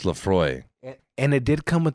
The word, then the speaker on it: Laphroaig: to pronounce it it does yeah this is pronounced laphroaig and it did come with the with the